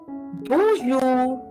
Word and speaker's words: bonjour: Bonjour is bonjour. The last R of the word jour, as you can see in the presentation, will be mute. You don't need to pronounce the R.